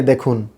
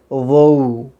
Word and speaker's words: though: স্ক্রিনে দেখুন THOUGH, আমরা এতকাল বলেছি দৌ, এখন থেকে যেন প্র্যাকটিস করি আমরা, এটা দৌ না, উচ্চারণ হবে ওউ। আবার বলছি ওউ, ওউ, লা সাউন্ড ওউ।